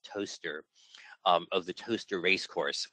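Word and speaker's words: Towcester: see the the logo believe it or not that's pronounced toaster of the toaster race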